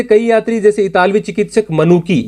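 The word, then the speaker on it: Manucci: इनमें से कई यात्री जैसे इतालवी चिकित्सक मनुकी, या जिसको मैंने मनुची लिखा है क्योंकि उच्चारण इटालियन में मनुची होता है, मैं हर लैंग्वेज का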